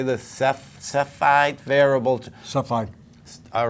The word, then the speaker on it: Cepheid: Cepheid.